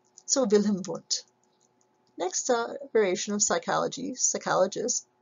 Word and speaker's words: Wundt: Remember that the Germans pronounce their W's with V's. So if you know the musician Wagner, they don't call him Wagner, they call him Wagner. So Wilhelm Wundt.